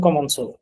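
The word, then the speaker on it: commençons: যেহেতু এটা ক উচ্চারণ হবে না, ছ উচ্চারণই করতে হবে, প্রনাউন্সিয়েশনটা ছ এর মতো হবে লাস্টের দিকে।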